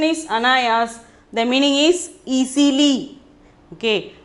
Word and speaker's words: अनायास: Anayas, pronunciation is anayas.